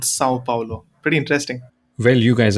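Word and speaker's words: São Paulo: it Sao Paulo, and the little squiggly line on top of the A is called a tilde and it has a very nasal effect. So it's called Sao Paulo.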